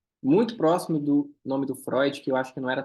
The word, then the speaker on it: Freud: exemplo número nove né que parece sempre com Freud porque o som de oin oin então Freud ah lembra noir também